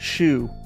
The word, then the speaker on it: Shou: I've checked it's pronounced shoe s-h-o-u H shoe uh but there's multiple spellings and more pronunciations most people go with shoe like shoe it also is spelled